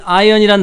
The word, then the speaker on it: iron: 자, 여기서 이 iron이란 단어가 있습니다. iron. 자, I-R-O-N 해서 iron이 아니라 iron이라고 발음하셔야 됩니다.